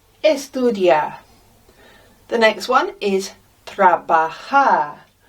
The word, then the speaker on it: trabajar: The next one is trabajar. Look how we pronounce the J.